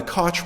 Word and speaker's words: Koch: have had that name, pronounce it Koch, but not in this case. They prefer the pronunciation Koch, and they pay a